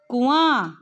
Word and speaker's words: कुआं: और इसका उच्चारण कैसे है? कुआं, कुआं।